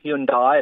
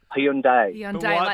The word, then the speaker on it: Hyundai: is dropped the eyes it's not Hyundai it's not hundi it's Hundai there's a why on